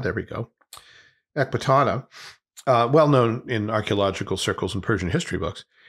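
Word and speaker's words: Ecbatana: Let's see if I can pronounce it right. Ekbatana, there we go. Ekbatana, well known in archaeological circles and Persian history books.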